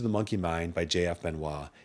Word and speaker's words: Benoist: Monkey Mind by JF Benoit, it's so, so great. By the way, Benoit is spelled Benoist.